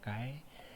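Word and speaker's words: χ: dibutuhkan dengan simbolnya adalah kaycee ini bacanya Kai ini adalah Jin artinya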